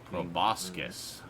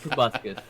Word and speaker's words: proboscis: Proboscis. All right. Yep. Check that one out. too. Proboscis. Proboscis. Proboscis. It's an O, not a U.